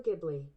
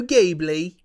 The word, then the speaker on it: Ghibli: people say it yeah Ghibli hard or soft oh interesting the actual word Ghibli is meant to have a hard G but the Creator Miyazaki pronounces it with a soft G that's funny okay okay